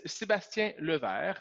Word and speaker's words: Sébastien Levert: usually I don't do that my name is Sebastian Luther which actually means Sebastian I am a office/den